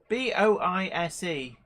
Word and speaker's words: Boise: again from Boise Idaho in USA am I pronouncing that correct Boise where is where b-o-i-s-e I'm sure it's Boise I'm sure somebody Boise